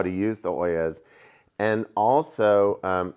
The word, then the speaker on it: ollas: And those are oyas. People don't always understand. It's an interesting pronunciation.